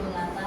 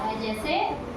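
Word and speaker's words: hedge: अब देखो अगली स्पेलिंग देखेंगे HEBGE, देखो यहाँ पर भी जी से पहले क्या आया, डी, तो हमने इसका उच्चारण क्या किया, हेज। क्या किया, हेज। अगर तुमको नहीं पता था तो तुम क्या उच्चारण करते इसका, बताओ, जब हमें पता नहीं था तो हेड्स, है ना, लेकिन गलत है वो, क्योंकि जी से पहले हमारा डी आया तो इसको हमने साइलेंट कर दिया।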